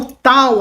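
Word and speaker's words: ταῦ: em grego assim Tal em português tal representa o nosso T como na palavra ter não representa um t como um t chiado como na palavra ti tá não tem esse tio tá bom se fosse em grego ia ser tio tio e não tio Beleza tem um som meio esse meio meio rígido outra letra é o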